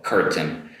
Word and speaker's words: curtain: Make sure you make that R sound in the middle, curtain.